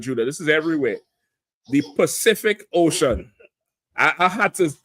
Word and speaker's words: Pacific: I I had to I had to tell myself don't don't say specific ma don't say specific the Pac I almost wanted to do it the Pacific Ocean we say specific ocean right some old say